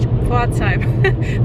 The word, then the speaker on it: Pforzheim: Now I pronounce it English, Pforzheim. That's how you pronounce it, the Gold City, Goldstadt.